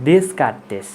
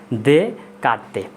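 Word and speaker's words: Descartes: তার নাম হচ্ছে রেনে দেকার্তে। তোমরা যদি ইংলিশে আলোচনা করো তাহলে হচ্ছে স্বাভাবিক উচ্চারণ হয় দেসকার্তেস, তো এটা হচ্ছে দেসকার্তেস না, এটার নাম হচ্ছে কি দেকার্তে।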